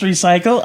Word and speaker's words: R3CYC13: R3CYC13. Pronounced recycle.